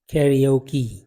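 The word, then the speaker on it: karaoke: Scissor, ये देखें ये वर्ड है कैरियोकी, कैरियोकी, तो ये जो ए है यहाँ पे आ रहा है ये ई की साउंड दे रहा है।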